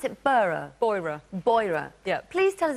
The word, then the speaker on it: Beurer: bringing some fantastic products do I pronounce it burro bora-bora yep please tell us about the company and then it's great massages yeah Bora is the go-to brand in Europe for health